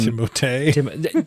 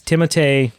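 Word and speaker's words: Timothée: Timote. That's the actual pronunciation of his name. Is it really? Yeah, because he's French. Okay. Like is it or it's a French? Yeah, it's Timote.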